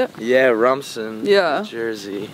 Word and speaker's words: Rumson: Yeah, Rumson, yeah.